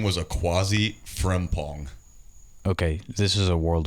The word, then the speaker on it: Frimpong: And then Frimpong. Kind of like ping pong, but Frim.